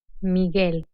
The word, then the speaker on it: Miguel: G in combination with UE and UI, the letter U is not pronounced. Ge, Miguel.